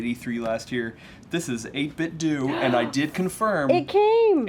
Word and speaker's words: 8BitDo: the company name is 8-bit do I got confirmation it's not dough like Nintendo it's a bit do like Nintendo because then tend to